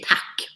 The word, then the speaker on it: tack: Tack, as we say in Sweden. We say tack. Tack? How does that go? So tack is thank you. Oh, tack. That's nice. That's a one-syllable word.